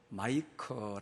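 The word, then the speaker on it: Micah: 미가서 에 대한 말씀입니다 미가는 영어 발음으로 마이크 어 라고 하는 발음을 합니다 금이 가 야 라고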